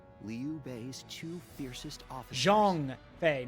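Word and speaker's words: Zhang Fei: B's Two fiercest officers Jong Fe not Jang Fe Jeong Fe that's how you say it Jong Fe then our aim should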